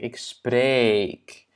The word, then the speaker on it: spreek: Donc, dans le radical du verbe, en fait, il y a un long E. Donc, ik spreek.